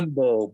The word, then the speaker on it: Yanbo: No, Yambo. Was it Yanbo. Yanbo? YANBO. Yeah. Yanbo, badass.